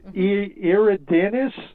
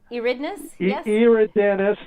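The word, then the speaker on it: Eridanus: pronounced i guess it's you know long e so it's iridenus i guess yeah eridness the river it's an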